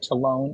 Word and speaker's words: talon: l o n and you will hear it pronounced to rhyme with salon you will hear it ton talone and Talon so there's